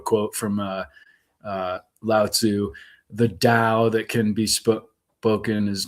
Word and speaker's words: Tao: from Lao Tzu: "The Tao that can be spoken is not the true Tao." And it's spelled DOW as opposed to DAW, and it was what's her name, the blonde woman.